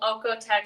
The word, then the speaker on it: OEKO-TEX: And all of their materials are certified to meet the global OEKO-TEX standard for safe textiles. I think I'm pronouncing that right.